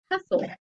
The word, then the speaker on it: hustle: soul don't hear that and you don't hear that in the word hustle so if you're practicing a